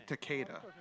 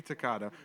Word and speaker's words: Takeda: Doesn't even have enough respect to say his name the proper way. Fuck you, Takeda. Not fuck you, Takada. Fuck you, Takeda.